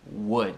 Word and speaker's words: would: W, algo assim, W, mas não se pronuncia o L e até o U.